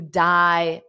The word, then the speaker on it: dye: So that means you dye your hair. Now notice the spelling. The pronunciation is exactly as the same as to dye when someone is no longer living, but the spelling is different.